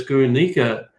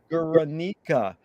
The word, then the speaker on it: Guernica: um you know if you look at picasso's guernica where he's reflecting you know the most horrible